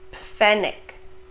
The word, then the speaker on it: Pfennig: We also pronounce the P and the F. Pf, Pfennig, Pferd, Pflaume, Pfund.